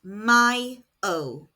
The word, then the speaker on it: mayo: And may is pronounced myio. Repeat after me. Mayo.